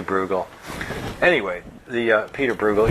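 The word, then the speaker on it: Bruegel: Peter bugal the Elder some people pronounce this name brel in Holland they say broel but I say bugal anyway the uh Peter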